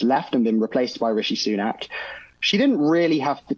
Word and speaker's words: Rishi Sunak: Is it Rishi Sunak? Is that correct? Yeah, Rishi Sunak, yeah.